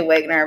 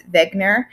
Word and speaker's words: Wegener: page 1 about Alfred I say Wagner but you know me I never pronounced anything correct so it's Beckner he is known as